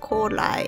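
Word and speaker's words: 古来: I don't remember what the other one, but it's pronounced Korai, and that's ancient.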